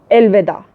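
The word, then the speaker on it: elveda: उर्दू में आप लोग कहती है अलविदा. वी are saying in Turkish एलविदा. थोड़ा सा प्रोनाउंसिएशन का डिफरेंट है, लेकिन मीनिंग इज सेम.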